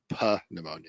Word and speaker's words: pneumonia: I don't want to embarrass you, but it's pronounced pneumonia.